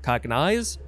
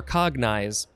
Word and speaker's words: cognize: have cognize uh yeah or you could emphasize either syllable cognize or cognize this is a transitive verb from circa 1837.